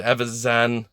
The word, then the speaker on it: Evazan: Evazan.